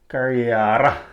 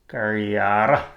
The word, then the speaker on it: Kariyara: This should be pronounced Kariyara in the Aboriginal way of pronouncing it. Kariyara.